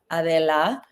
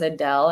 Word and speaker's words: Adela: If it's incorrect, please correct me my name's Adela Adela, but everybody always says Adele and I'm like, uh you know, I get it.